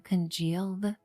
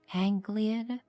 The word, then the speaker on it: congealed: I love how they wrote the term congealed in that dialogue, but the voice actress didn't know how to pronounce it. So she said Angliad.